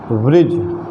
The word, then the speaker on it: bridge: तीसरा नियम है, जब किसी शब्द के अंत में डी के बाद GE आए तो डी का उच्चारण नहीं करते।